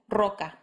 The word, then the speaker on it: roca: Second, when it comes at the beginning of a word. For example, roca.